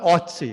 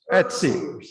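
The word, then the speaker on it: Ötzi: uh so that you all know that you pronounce the umlaut in etsy it's not ozzie it's etsy that's that's it's oh it's german yeah etsy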